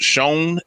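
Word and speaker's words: Schoen: his name is joe i think it's pronounced shone s-c-h-o-e-n uh he's actually the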